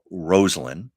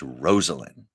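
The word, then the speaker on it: Rosalynn: inaugural parade he and rosn wasn't rosin it was Rosalyn I remember she emphasized that's how you say my name Rosen they unannounced they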